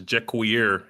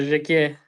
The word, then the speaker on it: Jakir: I did want to ask you, I've been pronouncing your last name as Juier. Am I getting that right? How do I pronounce your last name? It's uh Jakir.